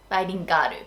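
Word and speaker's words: バイリンガール: the English pronunciation, but when we say it in Japanese, it's bilingaru. Bilingaru, because we can't say girl. That's like a hard pronunciation for Japanese people. So we say garu, bilingaru.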